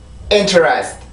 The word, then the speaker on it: interest: interest, interest. 다시 한번 interest. 자, 이렇게 해서 이 단어의 리듬이 만들어지게 되는데 우선 여기에 있는 T 발음을 먼저 봅시다. 자, 아까 전에는 T 발음이 강세음절의 시작이었습니다. 맞죠? 근데 지금 보면은 이 발음은 그 순수 음절의 시작이 T 발음이에요.